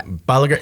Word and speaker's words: Bolliger: Yeah, Bolliger. It's a hard G.